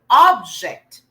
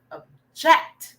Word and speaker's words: object: same spell the same if it's a noun usually the stress is in the first syllable okay primary stress of object versus a while back it's a verb object so the sit the stress is more on the jet not the object okay